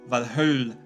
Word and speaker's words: Valhöll: The pronunciations of Valhöll for Valhalla and Odin for Odin are examples.